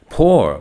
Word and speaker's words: poor: Poor. Well, the word poor sounds like the word pour, which the students will have.